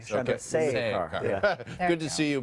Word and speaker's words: Chandrasekhar: You missed one syllable. The say. Chandrasekhar.